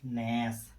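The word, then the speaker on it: gnash: नियम नंबर 2, जब किसी वर्ड की शुरुआत जी से हो और उसके तुरंत बाद एन आए तो जी का उच्चारण नहीं होता है। जैसे नैस, नैस माने पीसना, नेट माने कुतरना, नॉम माने कहावत।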